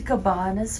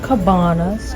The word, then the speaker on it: cabana: got our breakfast from Cabanas Jamie is it Cabanas or Cabanas I pronounce it Cabana cabins Cabana cabana it's not Dolce it's like it's like tomato tomato yes potato potato so I got